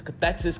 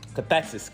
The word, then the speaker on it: cathexis: word of the week is cesis cesis cesis cathexis cesis cathexis cathexis y'all I'm sorry cathes cesis cesis is spelled c a t h e x i